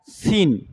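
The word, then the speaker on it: scene: इसमें के और डी साइलेंट है इसमें। ठीक है? अगला पेज देखें। तो इसमें लिखा है सीन।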